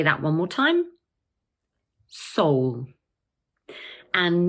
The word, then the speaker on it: Seoul: So this word is just one syllable, and in British English, it's pronounced Seoul. Let's say that one more time. Seoul.